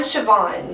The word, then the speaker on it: Siobhan: So she's Siobhan. I'm Siobhan. And I'm Jillian. Those are our real names. We don't mind telling you that. But we do have nicknames. Siobhan, by the way, is spelled the Irish Gaelic way.